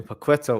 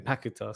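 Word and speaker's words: Paquetá: through pakita so I'm I've been calling paquetta all this time so commentary on saying pack guitar so let's go with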